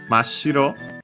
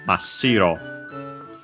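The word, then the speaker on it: 真白: And lucky, even with the addition of this prefix, the accent stays on the shi, so Mashiro.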